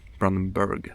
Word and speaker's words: Brandenburg: Brandenburg, that's the pronunciation.